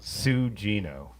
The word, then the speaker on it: Sugino: Two of you said it's pronounced Sugino, right? That's what they're. I've always said it like that. Yeah. Have you, Sugino?